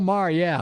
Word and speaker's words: Maher: Yeah, Bill Maher, yeah.